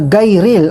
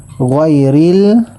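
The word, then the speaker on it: غير: Kapag sinabi mo ito na gayril ay hindi mo natamaan yung pronunciation ng ghayn. Kaya kailangan praktisan mo ang ghayril. Yan. Ghayril.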